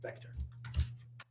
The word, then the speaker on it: Vec: So you can see here, contiguous, global array type, written vec-t, but pronounced vector.